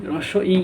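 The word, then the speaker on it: হ্রস্ব ই: এটাকে আমরা বলি সাধারণভাবে বলি রস্বই রস্ব ই, এরকম ভাবে সঠিক উচ্চারণ হবে রস্ব ই, রস্ব ই।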